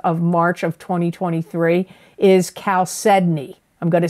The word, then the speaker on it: chalcedony: March of 2023 is chalcedony I'm going to spell it because people always ask me to spell it c-h-a-l-c-e-d-o-n-y and even though it's ch it's not pronounced cha it's Cal Sydney it's a nurturing Stone